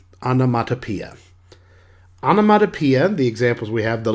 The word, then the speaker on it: onomatopoeia: heard of this before it's pronounced anamatapia onomatopoeia the examples we have